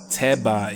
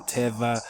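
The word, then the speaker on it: טבע: Your instinct to restore B instead of V is historically correct.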